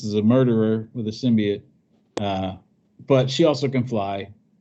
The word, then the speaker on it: symbiote: It's not an argument. It's symbiote. That's how it's pronounced. Yes, it's symbiote.